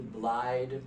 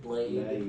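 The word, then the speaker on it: Blaidd: And Ronnie is an emprian, and she has a uh it's a Celtic name, so it's hard to pronounce. It's bl i d. Blide blade.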